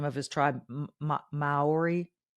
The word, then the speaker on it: Maori: I cannot pronounce the name of his tribe Maori it's spelled m-a-o-r-i mayori John correct okay Maori um should he not